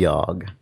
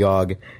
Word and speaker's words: Yawhg: We have been destroyed by the Yawhg.